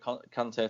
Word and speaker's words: Conte: But I was disappointed with Conte tonight, or Conte as it gets pronounced.